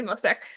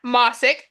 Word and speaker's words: Mosick: then Liz Mosek and or I say Mosek. That's not how you say it. Mosick, Liz Mosick, and Katie Beatty.